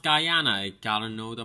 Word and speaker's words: Guyana: got to gr na or is it Guyana well according to Bryan true pronunciation is definitely pronounced Guyana except for the whiskey Jana Jana I can see how someone will pronounce it but it's pronounced Guyana I don't know the